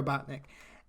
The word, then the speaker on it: Robotnik: Robotnik. I pronounced that correct. Yes. Okay, Dr. Robotnik.